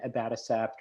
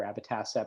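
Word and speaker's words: abatacept: on that and then abattocept or abbatassepp depending on how you like to pronounce it presented by dr rodolfo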